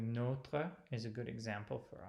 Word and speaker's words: Notre: you will know that you close that with bringing the T back to the O. Well, I'm not going to say it. I don't want to reinforce the error, but that's what we do in English, whereas it is notre in French.